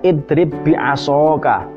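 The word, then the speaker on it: اضرب بعصاك: Harusnya kalaupun tidak dibaca idgham, ba ini kan harusnya qalqalah, idrib bi'asoka, tapi tidak seperti itu. Bacanya ba langsung dimasuk, ba yang pertama ini dimasukkan ke huruf ba yang kedua, diidghamkan. Nah, makanya disebut dimasukkan itu diidghamkan. Maka bacanya idrib bi'asoka.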